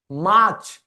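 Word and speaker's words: March: फेबरी ठीक है फेबरी फिर यह आर साइलेंट है यह बनता है मार्च माच जैसे हम हरियाणा में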